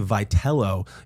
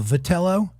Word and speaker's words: Vitello: Well, first of all, I keep wanting to call him Vitello, but apparently I just pronounce Vitello, but he goes Vitello. Vitello, and this is how you can remember out there, guys. And if you're old enough, Jack Atkins, one of those. Remember Vitalis? Mm-hmm.